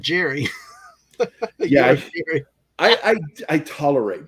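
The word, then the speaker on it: Gerroy: Sean Jerry Patrick Cassell spelled g-e-r-r-o-y but it's pronounced Jerry and that pissed my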